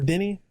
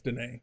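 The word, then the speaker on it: Denis: bro dune villeneuve or denny i think he pronounces denny or danae i think it's denae because he's french right so then adventure but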